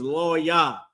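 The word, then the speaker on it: לוי: But Levi, the tribe of Levi, or the so-called Haitians, their name is Lo-Yah in Hebrew. Lo-Yah, all right? Lo-Yah. And that's how you pronounce their name, okay?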